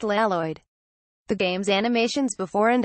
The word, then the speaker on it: Lloyd: Or even the subtle, churlish Keepeel reference that main character Lloyd should be pronounced Laloid.